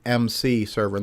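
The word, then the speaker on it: EMCEE: something that's called the mc server that's spelled e-m-c-e-e uh written by darren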